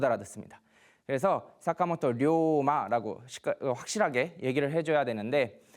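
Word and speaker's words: 坂本龍馬: 이 분은 이제 이름이 사카모토 료마라고 합니다. 사카모토 료마. 한자로 이제 용마라고 쓰는데 료라는 게 여기도 장음을 해줘야 돼요. 그냥 사카모토 료마 이러면은 일본 사람들은 누군지 못 알아듣습니다. 그래서 사카모토 료마라고 확실하게 얘기를 해줘야 되는데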